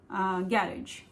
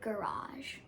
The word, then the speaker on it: garage: गैरेज एक English word है, लेकिन हमारे इंडियन एक्सेंट में हम बोलते हैं गैरेज. But in an American accent, we say garage.